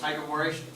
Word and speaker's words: hydroboration: Did we do hydroboration? No. No. Hydroboration? No. No. Not for the alkene. For the alkenes, no, for the alkynes. Yeah. You guys forgot already how to pronounce this in the German way.